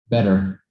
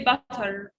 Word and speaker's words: better: Better. in standard English, it's better, better, better. Don't say butter.